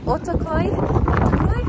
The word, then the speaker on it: Ortaköy: and but i have just come down to otokoi that's how you say it which i came